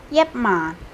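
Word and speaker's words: 一萬: Tapi kalau yatman, jadi mannya tuh agak turun begitu, nadanya tuh gede, bass.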